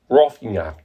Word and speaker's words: Roffignac: Roffignac. Like cognac.